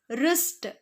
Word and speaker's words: wrist: The answer is wrist. The answer is wrist. Here, a silent letter W.